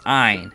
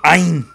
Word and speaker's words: Ein: And again, we bring up my fellow LP'er, Zeg 400, who said that to pronounce his name correctly, it's Ein, as in like Einstein.